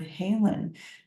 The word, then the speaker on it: haelan: brought out the word Halen to my attention which is um I'll put it on the screen for us it's spelled ha AE l n and it's a beautiful Old English word that um describes healing